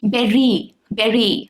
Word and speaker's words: berry: Burger, English के कुछ acoustic, not acoustic, acoustic guitar, berry, whether American or British, it's supposed to be berry, though we've made place for bury in Indian pronunciation, but it was always supposed to be berry.